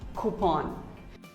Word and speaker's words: coupon: may even say coupon but actually it is pronounced as coupon who pawn coupon here's a very common word